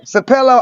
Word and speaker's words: Sapelo: Sapelo Island.